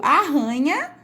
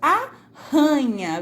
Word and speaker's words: arranha: Aqui onde o R é mais fraco, nós conseguimos pronunciar aranha. E aqui onde tem os dois R's e o som vai ficar mais forte, nós falamos arranha. Veja só, dá essa arranhadinha